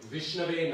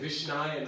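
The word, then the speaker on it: विष्णवे: That sometimes people mispronounce the Sanskrit. He says, some people say, you're supposed to say Vishnave Namaha in Sanskrit. I offer obeisances to Vishnu. But some people say Vishnaya Namaha.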